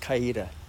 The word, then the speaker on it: Coweta: the county courthouse for Coweta County, or Cowety, which is pronounced Coweta.